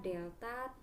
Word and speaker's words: delta: Lalu yang terakhir ada delta T. Ini bacanya adalah delta. Ibu nggak mau kalau kalian nanti bacanya AT ya. Ini bacanya delta ya nak.